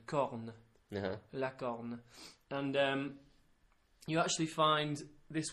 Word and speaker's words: corne: on a bull, is corne. Corn? Yeah, a bit like corn on the cob, but with an E on the end. Corne. La corne.